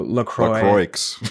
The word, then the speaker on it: LaCroix: I think it is French, because French you don't usually pronounce the last letter in like in the word. So Lacroix.